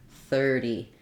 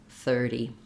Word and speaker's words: thirty: help you er thur 30 and then this t is a flap sounds a little bit more like a d 30.